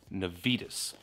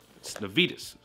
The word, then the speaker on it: Navitas: Now, guys, it's pronounced Navitas, not Navitas or Navitas or Navitas, which I do kind of like the Navitas. It's Navitas.